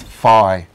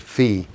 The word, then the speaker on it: phi: we're talking about like the f sound in the ancient greek was phi some some people pronounce it fee so this was the